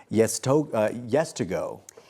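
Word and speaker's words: Yeztugo: Yes2Go.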